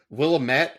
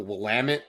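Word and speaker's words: Willamette: that is it the is it the willamet or the the wamit yeah Willet Valley um really awesome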